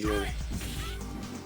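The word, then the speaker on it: Juni: Yeah, Yuri and Uni, even though they're spelt with J's. It's showtime. They are pronounced Yuri and Uni.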